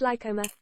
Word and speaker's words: Lychoma: Evelyn Moreau Lychoma, pronounced lycoma, meaning body, or alternatively